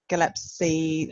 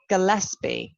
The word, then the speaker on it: Gillespie: um so my third film is um craig galepsie or gillespie oh how do you pronounce the surname gillespie gillespie craig gillespie i thought it was going to